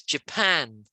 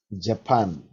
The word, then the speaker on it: Japan: the next one pan japan and japan yeah because a lot of countries say japan and we don't we put the stress on the second syllable so it's japan japan that's right and how